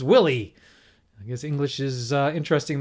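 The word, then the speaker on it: Willey: So for instance, I did figure out myself that Carl Willie, not Wiley.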